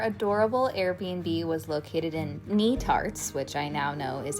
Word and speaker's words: Netarts: Our adorable Airbnb was located in Narts, which I now know is how it is pronounced, bay.